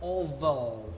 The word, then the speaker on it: although: Although. Even if. Even if, right? Strange pronunciation on that word with the GH at the end.